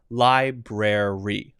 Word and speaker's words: library: that's not correct okay so this one has to have this r library lie br and then the br is sort of like i guess that'd be